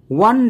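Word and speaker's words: one: তাহলে এর আগে এন ওয়ান ডেকে ওয়া এখানে প্রথম লেটার ও মানে ভাওয়েল কিন্তু এখানেও ও এর উচ্চারণটা হচ্ছে ওয়া মানে ডব্লিউ মানে কনসোনেন্ট সাউন্ড কনসোনেন্ট সাউন্ড থাকলে এর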